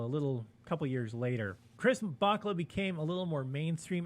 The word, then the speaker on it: Bachalo: I'm going to pronounce it Bachalo for the remainder of the show and stop correcting myself.